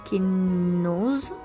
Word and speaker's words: Kenaz: l'illumination au cœur de Kenaz. Kenaz, prononcé Kenoz, bon, si vous le lisez comme moi, voilà. Kenaz, prononcé Kenoz plutôt donc, symbolise, mais moi